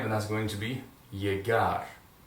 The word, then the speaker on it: llegar: Now, as you can see, all those verbs end with the consonant R, so the accentuation is going to be on the last syllable. All right? Pretty easy so far. One more time, llegar.